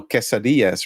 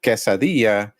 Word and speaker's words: quesadilla: cheese in the middle so people say quesadilla yeah and some Americans say quesadilla you know and so that's completely wrong yeah but uh you